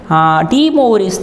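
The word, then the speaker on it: De Moivre: ஆக்சுவலாக எப்படி படிக்கணும் அப்படின்னா, டி மௌ பிஇஆர் இல்லை பிஆர்இ பிஆர்இ மொயின்னு சொல்லக்கூடாது, மொயின்னு சொல்லக்கூடாது, டி மௌரி okay, French mathematician இது.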